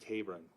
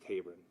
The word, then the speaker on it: Taberon: would pass along that his name is pronounced tabon first name pronounced tabon according to the mother tabon Hony uh at 6:09